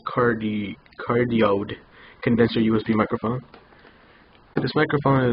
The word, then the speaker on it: Cardioid: It's pronounced Cardioid Condenser USB microphone.